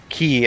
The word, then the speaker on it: chi: the greek letter key or key as it's pronounced okay i guess they